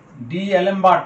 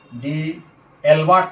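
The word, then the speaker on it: d'Alembert: ডি অ্যালেমবার্ট test, এটা উচ্চারণ কেউ বলে ডি অ্যালবার্ট টেস্ট, কেউ বলে ডি অ্যালমার্ট টেস্ট। ঠিক আছে, তো বেশিরভাগে উচ্চারণ করে ডি অ্যালেমবার্ট টেস্ট।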